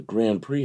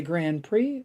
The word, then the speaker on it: Grand Prix: Is it a Grand Prix or the Grand Prix? Somebody's always got to say that. I mean, it has an X. The X is silent?